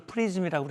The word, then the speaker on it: PRSM: 그런데 이게 PRSM, 이걸 프리즘이라고 읽는데 이거는 거리가 늘어났어요.